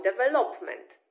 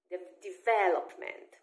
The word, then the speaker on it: development: Ale jeśli mówimy po angielsku, to po angielsku ten akcent się nie przesuwa i on jest na vel, czyli develop, develop. I on zostaje na vel we wszystkich słówkach z tej rodziny, czyli developer, development, rozwój, development.